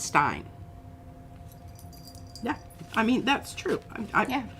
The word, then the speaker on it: Stein: looking shiny looking shiny if the eye is before the E you pronounce the E if the E is before the I you pronounce the I in German I don't know how